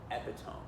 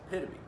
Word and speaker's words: epitome: that her friend knew this word but accidentally pronounced it epiome which is what it looks like when it's written out on the page.